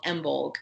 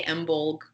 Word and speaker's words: Imbolc: this episode is called embold and this is also pronounced in a lot of different ways but it's spelled either i-m-b-o-l-c or I am b-o-l-g yep okay I say emblem okay perfect this happens